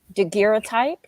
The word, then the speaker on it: daguerreotype: he shows Phoebe of his, I'll try to pronounce it one time, it's basically photograph, but daguerreotype.